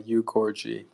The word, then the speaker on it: Ogorji: Yeah, that's the correct pronunciation, though often I go by Ugorji to Americanize it.